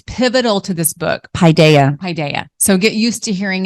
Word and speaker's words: paideia: and here we go paideia paideia padeia don't say Padilla nope that's not it hi Daya we've practiced